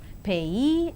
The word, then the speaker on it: payee: And now the words stress, the words ending with suffix ee, eer and air are stressed on the the syllable itself, that is payee, addressee, employee, absentee. And engineer, volunteer, career, mountaineer, millionaire and questionnaire. And let us see accent in the compound words.